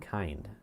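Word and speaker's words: Kinde: Minden City also on the southern flank of this and Ruth also up towards Caseville and kind or Kind Silent E cell number two.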